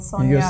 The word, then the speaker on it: Sonja: Yes, Sonja. No, Sonja. Yeah, I'm used to being called Sonja in every other country, but yeah, it is Sonja.